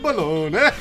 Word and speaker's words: Bologna: And bologna. It's pronounced bologna.